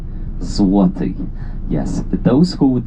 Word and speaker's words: Złoty: No, but when there's a stretch on L, letter L, it becomes W. Złoty.